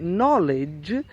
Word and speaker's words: knowledge: I've understood which is acknowledge then you do pronounce the K before the end because it's not the beginning of the word instead knowledge KN o w le D ge means when you know something is so if